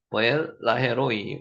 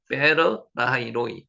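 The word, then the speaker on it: באר לחי ראי: 보엘 라헤로이 우리가 이제 요 내용은 잘 알고 있죠. 베에르 라하이 로이 요거를 한글로 기록한 게 보엘 라헤로이로 기록해놨습니다. 보엘 라헤로이 베에르 라하이 로이 실제는 원어 발음은 베에르 샘이죠.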